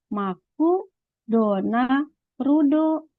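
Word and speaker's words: マクドナルド: gitu kan MC apa orang Jepang membacanya Yudi maku dona rudo nah di sini perhatikan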